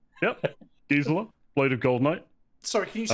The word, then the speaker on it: Gisela: I'm playing Gisela, which is how I say it, because there are multiple pronunciations of this name. Yep, Gisela, Blade of Gold Knight.